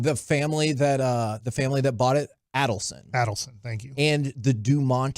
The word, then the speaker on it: Adelson: That Alderson? They are. Is that I'm saying it right? The family that bought it, Adelson.